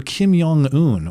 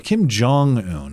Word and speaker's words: Kim Jong-un: Is it a J or a a Yong? Well, the thing is that since they're in close proximity of China, it's Yong, not Jang. That's how they say it.